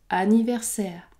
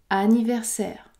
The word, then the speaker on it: anniversaire: combinaison a n n alors il n'y a pas de voyelle nasale ce mot se prononce anniversaire anniversaire vous avez également un